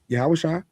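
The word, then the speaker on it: Yahawashi: Yes, Yahawasha was that's how you actually pronounce the name, by the way, for those in the know. Yahawasha TZ existed.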